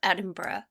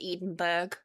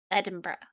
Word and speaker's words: Edinburgh: I freaking love Edinburgh, which is how it's pronounced, by the way. Please don't embarrass yourself and your country by calling it Edenburg. Edinburgh.